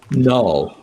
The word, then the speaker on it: Knull: Someone named Null, or spelled with a K.